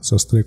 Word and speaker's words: Sastre: en la segunda A, Sastre con acento en la E.